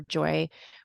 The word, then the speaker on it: Joi: with us there we're Joy Women's Wellness and joy is spelled Joi and then our website